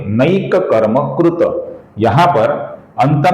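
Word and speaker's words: नैककर्मकृत्: अर्थात त ऐसा अपूर्ण उच्चारण भी नहीं करेंगे और त ऐसा पूरा उच्चारण भी नहीं करेंगे। इसका सही उच्चारण होगा नैक कर्म कृत कृत कृत।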